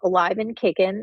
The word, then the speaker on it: AliveAndKickn: know we are um the organization is called Alive and Kicking and that's spelled a i v a n d k i c k n so you can go